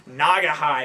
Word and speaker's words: Naugahyde: the new Primus album green nagah high is that how you say it it is how you say it I heard Les Claypool say it heard he pronounced it